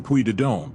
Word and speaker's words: Puy de Dôme: Through France's stunning Puy de Dôme, a region.